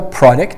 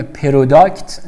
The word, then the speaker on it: product: خوب دقت کنید دوستان، ما چیزی به نام پروداکت نداریم، علی‌رغم اینکه این او هست ولی در زبان انگلیسی آ خونده میشه، برای همین نگید پروداکت. خب این اشتباه است، تلفظ صحیح این واژه آ هستش، پروداکت، پروداکت، و قسمت دومش هم دکت، پروداکت.